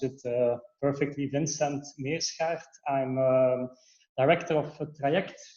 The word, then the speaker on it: Meerschaert: of myself so my name is uh it's pronounced it uh perfectly Vincent me asshat I'm a director of triact we are Mobility